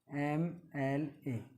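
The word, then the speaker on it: MLA: जैसे एम एल ए। अब इसको हम उच्चारण करते हैं तो एम एल और ए। तो ए जो है ये स्वर है, क्या है, स्वर।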